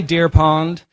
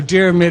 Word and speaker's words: Diarmuid: corridor and said, "Hi, Deer Pond." So they got the images a little bit confused. So Diarmuid is the easiest way. It doesn't help by looking at the way it's spelt in Gaelic.